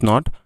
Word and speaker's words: knee: Next পাম, palm, পাম, এখানে এল উজ্জ্ব থাকবে, এই জন্য উচ্চারণটি পাম শোনাচ্ছে, ইটস নট পালম, ইটস পাম।